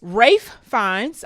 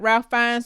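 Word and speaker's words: Ralph Fiennes: Rafe fines. I learned that we are pronouncing his name wrong. He goes by Rafe Fines, not Ralph Fines.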